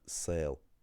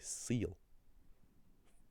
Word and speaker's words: saol: If you don't say, let's say, if you don't say um saol and you instead say saol for the word for life, then you're not speaking Munster Irish.